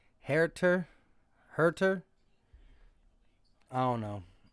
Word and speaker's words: Huerter: MG Nash says, Huerter is pronounced Herter.